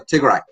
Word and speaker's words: Tigray: great it's too dry r-a-y is pronounced as Rai so Tigre with that I'm gonna